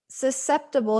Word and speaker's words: susceptible: that our brains are susceptible to temperature abnormalities yeah so there's some big some longer words in here so susceptible here and the c is silent right so are susceptible